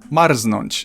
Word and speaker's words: marznąć: There are some very rare cases of R and Z not forming ż, but you'll probably never encounter them, and I can only think of one example. Marznąć, so I'd recommend to